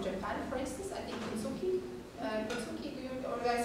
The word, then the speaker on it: Kintsugi: like traditions from Japan, for instance, I think Kintsugi, or did I say it right?